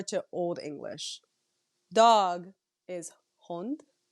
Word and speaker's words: hond: Dog is hond. Like hound. Can you spell it? Hond. Oh. Hond. H-O-N-T. Hond. And D. But you pronounce Hond. it as kind of like T.